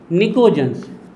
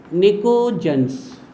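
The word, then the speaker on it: pnictogens: ये है भैया मेन नाम इसका, निकोजेंस। पी is silent, निकोजेंस।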